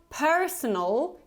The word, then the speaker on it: personal: after me personal personal so you see again we don't pronounce this r ending so it's not personal but more like per personal so again we